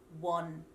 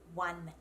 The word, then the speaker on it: one: with an O, but we don't say won. If you say won, that's actually a dialect of England. So we actually pronounce that word with an A sound, one.